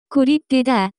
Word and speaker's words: 고립되다: The pronunciation of this word is closer to. 고립되다.